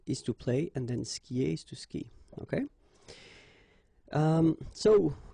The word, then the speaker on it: skie: And then, je skie, okay? Exactly the same thing, je skie, okay? You get this I, and after that you get the vowel but then you don't pronounce it, all right?